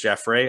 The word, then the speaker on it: Jaffres: c-o-y-s at the end uh jafris j-a-f-f-r-e-s um for any french listeners it's jeff ray i uh know